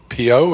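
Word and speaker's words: Piot: you beth indeed rich peter pio is that how you pronounce it thanks we have a letter later uh yeah with the i i think it's pot they say the tea yeah yeah they say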